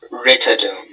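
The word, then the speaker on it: rhytidome: Are there any alternate pronunciations? Just Ritidome. Ritidum? Ritidum. Am I pronouncing it correctly? Ritidum? Ritidum. Is it ritidum or ritidome?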